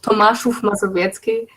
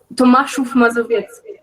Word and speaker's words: Tomaszów Mazowiecki: In a small city that is called Tomaszów Mazowiecki. The pronunciation is like super difficult for strangers. Say it one more time. Tomaszów Mazowiecki. Tomaszów Mazowiecki.